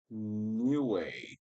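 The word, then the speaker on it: Niue: New way. New way. I never heard of that country. It's spelled N I U E and spel is pronounced new way. Something like that. I'm not too sure.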